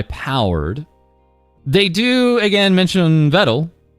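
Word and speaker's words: Vedal: They do again mention vettle rhymes with pedal and uh at the time of this writing they're at 162 or 165 as of the Twitch tracker goes.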